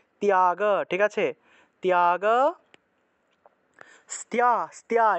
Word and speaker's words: ত্যাগ: ত্যাগ, ধ্যানাৎ কর্মফল ত্যাগ, এখানে তয়ের সাথে জফলা থাকায় তিয় উচ্চারণ করতে হবে, ত্যাগ।